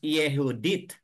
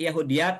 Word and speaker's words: Yahudyth: modern Tinawag ito as yehudi mga kapatid yehudi na ito po ay isang lengguwahe o isang language mga kapatid but Bakit yahud yat ang ating pagkabigkas dito at hindi yehud It is because we